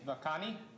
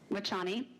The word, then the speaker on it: Vachhani: And you see there at the end of the at the end of the I can't pronounce that doctor's name, Vakani, is that correct? Wachani. Wachani, thank you. Sam, it's Vachhani.